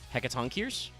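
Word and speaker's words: Hecatoncheires: Hecaton Kiers? It's Greek, so it's a hard C.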